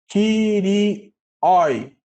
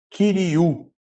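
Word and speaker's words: Κυρίου: Ou, como a gente hoje ainda não pegou os ditongos, né? Kyrioi, ficaria, tá? Mas a pronúncia correta é Kyriou, tá?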